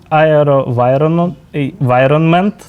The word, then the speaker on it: AeroVironment: Штати або виробник цих Дронів компанія Дронів ароваon ароваvonment Так вона читається яка виробляє дрони switchblade 300 і switchblade